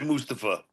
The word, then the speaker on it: Mustafa: Well, he pronounces it Mustapa.